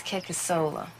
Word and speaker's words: Kickasola: My name is Kekasola. 4 syllables, funny name.